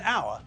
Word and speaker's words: hour: first letter and so the word sounds as though it begins with a vowel it sounds as though